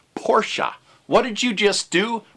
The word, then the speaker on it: Porsche: needs to be pronounced oh it's not Porsche it's pronounced Porsche what did you just